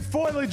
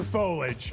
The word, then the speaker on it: foliage: Is it foilage or foliage? It's foliage. Foliage. It's three syllables.